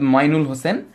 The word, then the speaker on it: মইনুল হোসেন: হ্যাঁ উত্তর হয়েছে সৈয়দ মইনুল হোসেন উনি বানানটি লিখেন মইনুল হোসেন কিন্তু উনার নামের উচ্চারণ হচ্ছে মাইনুল হোসেন তারপরে হচ্ছে মুজিবনগর স্মৃতিশোধ